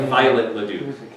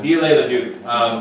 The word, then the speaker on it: Viollet-le-Duc: Yeah, so it's spelled like Violet Leduc, but Viollet-le-Duc.